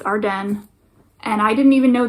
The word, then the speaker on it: Arden: arden here in canada i know people pronounce it ardeen but it's our den and i didn't even